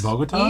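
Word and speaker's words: Bogotá: Is it Bogota? Oh. All right. Is that how you pronounce it? Yes. Bogota?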